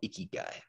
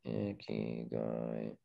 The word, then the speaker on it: Ikigai: It's called Ikigai. I-K-I-G-A-I. And at least that's how I've been shown to pronounce it.